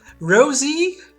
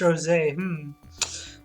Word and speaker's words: Rosé: Rosie? But it's pronounced Rosé.